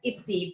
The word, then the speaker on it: IPSI: is we pronounce uh indonesian is pronounced itsy but uh in english like ipsi so ipsi is indonesian